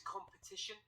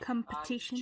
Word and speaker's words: competition: One is competition. Okay. Competition. You just need more of that sound, that schwa sound. It's almost competition.